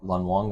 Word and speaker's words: Lun Wong: I didn't double check to make sure that's the correct pronunciation. Yeah. Lun Wong.